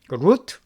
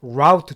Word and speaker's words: route: another, 자, 이거 발음이요. route도 되고요. route도 돼요. 루트, 라우트 둘 다 됩니다.